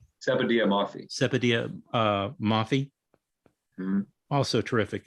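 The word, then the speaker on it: Sepideh Moafi: How do you pronounce her name? Sepideh Moffey.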